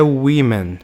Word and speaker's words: women: Bom, um ponto muito importante para a gente prestar atenção aqui é o seguinte, que aqui a pronúncia é women. Por quê? Aqui tem um E, não um A.